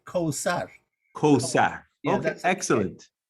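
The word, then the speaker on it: Kawthar: Now the TH is a transliteration of the sound is S. Qawsar. Although that's a system. In the system of in that system of transliteration, and the Arabic pronunciation is TH, Qawsar, but the letter.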